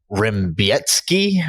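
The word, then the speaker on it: Rebecki: but if you're listening the last name is spelled like Rebecca r-e-b-e-c-k-i so can you play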